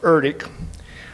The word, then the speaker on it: ERDC: The acronym is ERDC, pronounced ERDIC, with headquarters at Waterways Experiment Station.